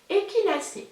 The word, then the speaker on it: Echinacée: prononcé donc ça s'écrit échinacées mais ça se prononce et qu'il a c'est merci chantal de traiter la chaîne fraîcheur mentale